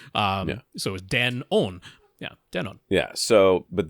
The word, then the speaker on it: Denon: They're like, now it is officially Denon. But yeah, I mean, it was a compound word in Japanese. It was Denki Onkyo, which is good sound. So it was Den-on.